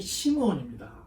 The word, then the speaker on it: 시므온: 이 14절에 나오는 시몬은 시몬의 히브리식 발음이 시므온입니다.